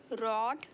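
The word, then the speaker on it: read: writing पढ़ना रीड इस देखिए इसको बोलते हैं रेड इसे बोलते हैं रेड भले स्पेलिंग सेम है बट हम इसे प्रोन सिएट करते हैं रीड रेड रेड मुझे रात को पढ़ना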